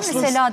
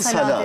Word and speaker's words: salâ: Doğru kullanımı sala, sala aslında ama sela. Halk arasında sela da denir. Sela da denir. Daha telaffuzu kolay.